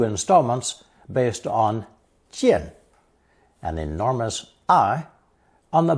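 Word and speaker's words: 见: In the previous installment, I did not mention that jian, meaning to see something, was originally a split sound character, 破音字, with a second pronunciation of xian, meaning to appear, within the line of sight of that enormous eyeball.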